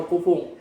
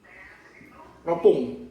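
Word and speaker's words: 六分: Nah, ini ya cara bacanya, hati-hati, bukan rokufung tapi jadi ropung ya, ropung akan ditarik dikit.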